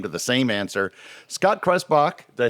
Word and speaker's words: Krebsbach: Scott Krebsbach, did I say it correctly? Krebsbach. Don't forget the BS.